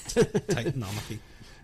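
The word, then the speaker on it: Titanomachy: do you say Titan Titan Tit Titanic Titanomaki Titanomaki there we go uh I was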